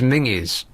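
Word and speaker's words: Menzies: do because in Scotland they pron men's's is mingies oh yeah yeah that's what they say why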